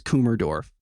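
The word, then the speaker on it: Kummersdorf: It is Kumerdorf.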